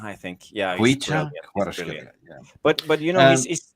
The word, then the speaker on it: Kvaratskhelia: Or there's been also reports saying regarding Kvaratskhelia as well.